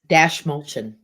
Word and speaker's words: Dastmalchian: Oh, with David, can't pronounce his last name. Dastmalchian.